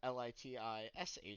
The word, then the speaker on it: Letitia: Latitia. Man, all right. I'm gonna write a pronunciation underneath that for myself of Litisha in parentheses.